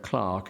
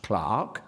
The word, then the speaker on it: clerk: I take it that a critical edition needn't tell a reader that the word clerk is pronounced clerk, not clerk.